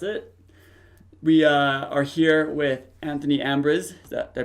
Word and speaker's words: Anthony Ambriz: We are here with Anthony Ambriz. Did I pronounce that right?